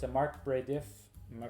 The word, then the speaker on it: Marc Brédif: So it's a Marc Brédif. Am I pronouncing that correctly? Yep. Marc Brédif, Chenin Blanc, Vouvray.